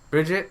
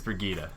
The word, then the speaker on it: Brigitte: Bridget? No, Bridget's not right. That's not how you say it. That's not how you say her name. I believe it's Brigitta. Brigitta.